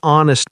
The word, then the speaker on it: honest: An honest person, not a honest person, because the H is silent.